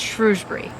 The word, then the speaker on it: Shrewsbury: hour drive up to Shrewsbury Shrewsbury I think we keep mispronouncing but it's Shrewsbury because we had a